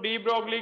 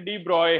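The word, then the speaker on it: de Broglie: डी ब्रोगली क्या है, डी ब्रोगली को भी वैसे तो उनका नेम डी ब्रॉय है, डी ब्रॉय बोलते हैं उनको, है ना। हम चलो डी ब्रोगली, हमें स्पेलिंग मिस्टेक ना हो जाए कहीं, तो हम ऐसे नेम चेंज कर देते हैं इनके, है ना। एग्जैक्टली इनका नेम था डी ब्रॉय।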